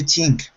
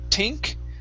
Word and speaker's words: think: times what do you think okay very good let's take a look at um three words okay uh first up this very last one instead of tink the word is think what do you think